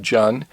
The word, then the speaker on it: Jun: Jun that's J UN I think it's pronounced John instead of June but I could be wrong on that just a disclaimer I